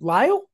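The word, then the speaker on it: Lisle: i s l e Meer how do I pronounce your first name lyo yep there you go you got I've never seen I've never seen spelled like that before any it's in the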